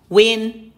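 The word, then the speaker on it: won: แล้ว นะ มอส เด วิน ช่อง 3 วิน วอน ๆ นะ คะ ออก เสียง เป็น วัน นะ คะ ไม่ ใช่ วอน มี ชั่วโมง บิน นะ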